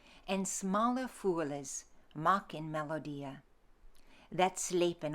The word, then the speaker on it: smalle: half-course I runna, and smalle fools maken melodia. Your edition is missing an E between the W and the L there. That's why you're hearing me say it. And smalle fools maken melodia, that